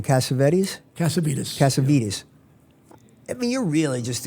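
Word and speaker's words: Cassavitis: How do you pronounce the original name? Cassavetes? Cassavetes.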